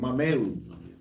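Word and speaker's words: Mamaea: That's how you pronounce her name, Mameu.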